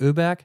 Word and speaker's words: Öberg: URC right in Swedish in Germany we say like urbe but I think in Swedish it's like uber uh she said it